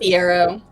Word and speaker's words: Fiero: Is it pronounced Fiero? That is correct.